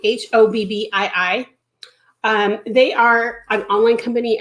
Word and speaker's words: Hobbii: I think it's pronounced Hobbii, Hobbii.